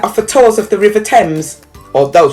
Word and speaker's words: Thames: tours of the river thames although she pronounces the h in thames it's possible no one would notice her last job choice